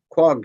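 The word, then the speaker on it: quahog: showed this shell and that's a qua a quag shell they pronounce it and um but there were wamp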